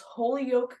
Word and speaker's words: Holyoke: You chose Holyoke Community College. That's how you say it, right? Yes.